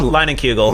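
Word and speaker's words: Leinenkugel: it cuz that's - like you just said lining kuegel yeah okay I always say Landon you don't have to be like no it's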